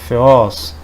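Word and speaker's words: θεός: Ele se escreve assim em grego, se escreve dessa forma em português, e o som dele é o de TH em inglês, né? Thing. No caso aqui seria Theos.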